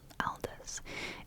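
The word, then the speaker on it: Aldous: Aldias al Aldis. It's spelled A L D O U S.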